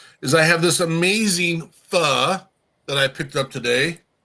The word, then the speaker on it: pho: Pho. Oh. Thought it was faux.